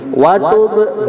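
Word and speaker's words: وَتُبْ: مناسكنا وتب علينا Nah, itu ada ba sukun, namanya qalqalah ya. Terus cara bacanya begini, watub gitu.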